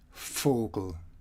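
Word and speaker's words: Vogel: a little bit later these letters here the f ph and v are all pronounced identically and ph here has some reference to old greek we have here fenster the window physique physics fogal bird at least this is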